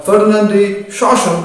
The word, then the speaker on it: Ferdinand de Saussure: The first set, Langue&Parole, is a contribution by Ferdinand de Saussure or Ferdinand de Saussure as the English pronunciation goes, who is considered as the father of modern linguistics.